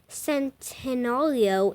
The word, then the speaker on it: Centenario: loads dude I don't a lot of people pronounce Centenario different ways some people say send audio some people say I don't know but I believe centeno leo is the correct way to say it because I watched a